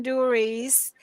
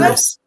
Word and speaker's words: Duris: so Angel D'Alessio and Stephen Duries. I hope I didn't massacre your name there. It's Good. Duris. Duris. Perfect.